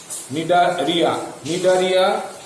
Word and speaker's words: Cnidaria: নিডেরিয়া বানানটা কিন্তু একটু মাথায় রাখবে, CNIDARIA, নিডারিয়া, তার আগে কিন্তু একটা সি আছে।